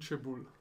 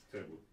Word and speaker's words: Cebulj: Subito una domanda, la pronuncia corretta del nome, perché ci sono diverse correnti di pensiero. Clement Sebul. Ecco, Sebul.